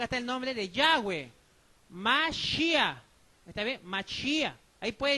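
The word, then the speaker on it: מָשִׁיחַ: La M, Ma. Este es la Che, Mash. Aquí dice Mash. Y este es la Yod-E. Yod-E, ¿qué pronuncia? Ya. ¿Está bien? Acá está el nombre de Yahweh. Mashiach.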